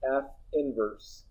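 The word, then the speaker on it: f⁻¹: to make is notation this symbol is pronounced f inverse it is not the reciprocal of f when you have a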